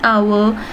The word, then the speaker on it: hour: An hour, an honest man. The following words begin with consonant letters but are pronounced with vowel sound. They therefore take an before them.